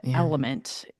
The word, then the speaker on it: LMNT: And so, yeah, go to LMNT. Yeah. Element, phonetically.